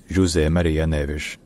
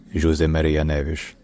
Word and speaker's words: José Maria Neves: from 2001 to 2016 in Portuguese his name is pronounced J Maria Nish J Maria Nish J Maria Nish J Maria Nish all right if you